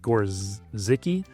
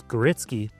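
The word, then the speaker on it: Gorzycki: It's spelled kind of funny. It looks like Gorziki, but it's Geritzky.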